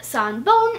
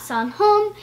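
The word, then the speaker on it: さんぼん: So you might have noticed that I said sanbon and not sanhon, and that's because in Japanese the pronunciation changed to make it easier to say sometimes, and sometimes I don't even know why.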